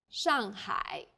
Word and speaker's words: 上海: The pronunciation for the famous city Shanghai is 上海 The first syllable here is made of an initial 是 and a final 昂 and a fourth falling tone. 上 The second syllable is made of an initial h and a final I and a third falling then rising tone. 海上海 Well done!